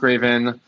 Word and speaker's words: Reyvn: raven r-e-y-v-n um but it's pronounced like the bird so in case anybody